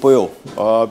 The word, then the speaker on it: pollo: रहे हैं called D पोयो PO double L ओ लिखा हुआ है लेकिन डबल एल साइलेंट है मैक्सिकन में और ये चिकन को बोलते हैं पोयो तो ये चिकन की